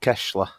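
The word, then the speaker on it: Keşla: FK Kesla. Kesla. I seen the accent on the S, and I knew if I go straight in with the hard S, I'm going to mess it up here.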